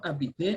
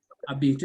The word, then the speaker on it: habiter: For example, the verb habiter, I'm sure you remember this verb, habiter is to stay or to live. So we say again, J apostrophe. So we say j'habite because the H is silent.